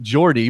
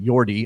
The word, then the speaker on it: Jordy: do you know so not only is it jordy more like jordy than yordy although we can't like